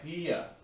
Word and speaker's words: pie: to try it's called it's spelled pi it's called pia in spanish all right now we're